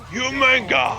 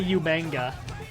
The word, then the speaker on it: Umaga: Umaga! Umaga! I showed you that Botchamania, didn't I? That's who. Probably. That's how William Regal would say Umaga. He couldn't pronounce it right. He'd say Umanga.